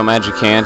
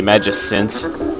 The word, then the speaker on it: Magicant: And people always say, you know, Magicant is the pronunciation. My friend Simon Bob, he used to always say Magicint, a carefree bomb thing.